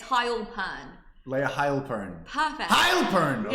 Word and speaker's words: Hailpern: That's how you say it correctly? It's Heil, like Heil Hitler, believe it or not. W Hitler. There you go, unfortunately. Yeah. But it's Hailpern.